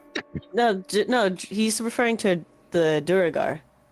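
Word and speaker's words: duergar: Is it Drugar? Is it Drugao? Drow? Drow. No, he's referring to the Duragar. Duragar.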